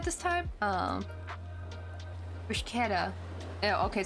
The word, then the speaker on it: bruschetta: Bruschetta. Yeah, okay, so it's like a slurred K. Like, right, because chemistry.